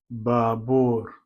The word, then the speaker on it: baabuur: B is baabuur, baabuur. You can see the double A's, double U's. Baabuur. Let's say if you take off one A and say baabuur, it won't make any difference.